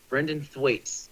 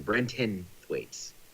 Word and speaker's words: Brenton Thwaites: Brinton the what don't wanna see the furnace mispronouncing his name Thwaites brendan Thwaites is the guy's name Brenton Thwaites I don't I'm just getting frustrated with the